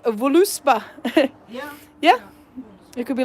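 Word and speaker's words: Völuspá: It could be like voluspa. Actually, the way it's spelt there, it looks like verluspo. because it's got the Swedish O with the 2 dots. Yeah. And it's, well, Swedish letters. Vurlusbo.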